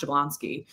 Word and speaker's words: Jablonski: So it was 2 generations ago, it was Jablonowski, still pronounced Jablonski.